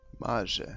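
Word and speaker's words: Maje: Marge, that's how you say it.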